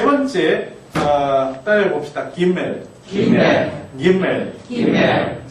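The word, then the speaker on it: גימל: 그렇지만이 점이 찍혀 있을 때의 베트와 점이 없을 때의 베트가 발음이 지금도 다르다는 것은 어 기억을 하실 필요가 있겠습니다. 세 번째 따라해 봅시다. 김멜 김멜 김멜 김멜 자 앞에 있었던 두 자음들과는 달리 요거는 세로로 반만 차지하는 거죠.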